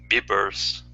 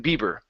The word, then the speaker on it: beavers: Okay, so you want to make sure you're pronouncing the V. If not, it sounds like Bieber, like Justin Bieber. Instead of Bieber, it's beavers.